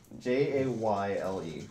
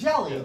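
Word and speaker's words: Jale: Jayle. Yeah. Okay. Jaylee. No, you're Jelly. mispronouncing it. There's- Jelly.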